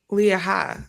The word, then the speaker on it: Leah: it's le with no the H is silent like you don't add an extra like Leah okay that's weird